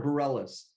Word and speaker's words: Bareilles: today is by sara bareilles i think that's how you say her name um actually sara bareilles but you're close but so she's more